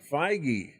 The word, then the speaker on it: Feige: determined and that's a Kevin How do you pronounce his name? I was looking up JD Dillard. Uh Kevin Feige. Feige.